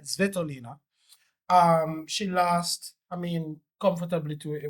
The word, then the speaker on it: Svitolina: Despite losing her quarterfinal to Elena Svitolina, let me get that pronunciation right, Svitolina.